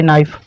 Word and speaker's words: knife: अब बच्चा चाकू, तो क्या हो जाएगा, ए नाइफ, KNIFE। आपको ये भी बताया कि एन से पहले के चुप रहता है, साइलेंट रहता है।